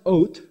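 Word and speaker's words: אות: and an it's pronounced oath but the Tav can be pronounced as either an s a t or a th it's it's where we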